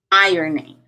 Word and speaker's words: ironing: afraid I or need a change irony drama ironing ironing to do the ironing ironing okay um